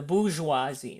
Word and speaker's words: bourgeoisie: bourgeoisie right here this the bourgeoisie that's how you say it I know many people in the past were like the boarding Joey's are you or whatever noise the booze was he okay it's a boozy art basically you're rich